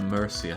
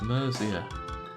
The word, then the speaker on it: Mercia: i'm saying that mercia mercier thing no jake you're saying it wrong it's mercia okay mercia no not mercier aluminum aristocratic i